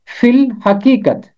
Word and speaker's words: فی الحقیقت: میں ہے فی الحقیقت۔ یہ مرکب لفظ یہاں پر چھوٹی اے اور الف تلفظ سے خارج ہو جاتا ہے، اور فے کے نیچے